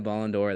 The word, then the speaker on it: Ballon d'Or: do you say Ballon d'Or he won the Ballon d'Or that year yeah he's he is so good